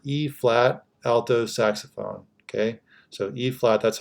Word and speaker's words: E-flat: here as the e-flat alto saxophone okay so a flat that's how you pronounce that not EB but a flat alto sax if you're in